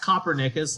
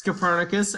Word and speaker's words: Copernicus: guy named Nicholas cernus not Copernicus like some fools like to pronounce it it's cernus a Polish astronomer um